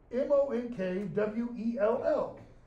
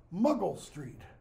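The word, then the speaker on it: Monkwell Street: is a street name m-o-n-k-w-e-l-l sounds like it should be pronounced monk well Shakespeare's day is pronounced muggle Street probably where JK Rowling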